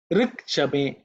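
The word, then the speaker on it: ऋक् च मे: Rik chame, rik chame, rik chame. Okay. So when the Sandhi, I think in terms of pronunciation, it should be simple. Rik chame.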